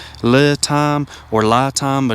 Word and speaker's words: LiTime: It's pronounced li time. It looks like le time or li time, but it's actually li time is the corre correct pronunciation.